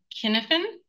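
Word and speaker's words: Cynefin: So this framework, I think it's the Kenneth framework. I think it's a hard C. Um, it's a Welsh word and it was uh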